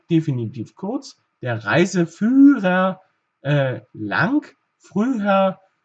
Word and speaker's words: früher: Früher, hier haben wir haben wir zwei Silben, also Silbenende ist das Ü und Silbenanfang das H. Deshalb wird es etwas anderes betont, also früh, ja.